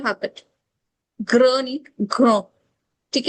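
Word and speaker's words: grand: इट एज ओ और जो डी है लास्ट में वो साइलेंट कंसोनेंट है we don't रीड सो so this will be grow. अगर इसको प्लूरल बनाना है तो we will add एस but like it it will sound same.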